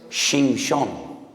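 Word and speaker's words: שמשון: Porque Sansón en hebreo es Shimshon. Shimshon. Ya sé que les causa risa, pero es que estoy pronunciando la palabra sol.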